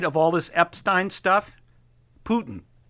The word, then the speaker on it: Putin: In case you want to know what awake listeners, Putin is pronounced P O in caps- tihn, but they had to have that pronunciation guide for Trump.